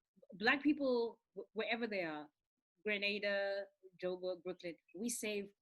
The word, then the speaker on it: Grenada: like what is it it's grenada grenade grenade granada is a city in spain but the country in the caribbean is grenada grenada you see and they're spelled the same way so it gets it